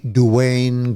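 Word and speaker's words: Duane: Itu gimana kalau pronunciation yang benarnya itu? Itu Jerry D. Grey, nama lengkap Jerry Dwayne Gray.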